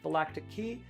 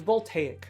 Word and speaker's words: voltaic: go and and like Vaca key I it's voltaic I know that but I'm going to still mispronounce it a bunch uh I think your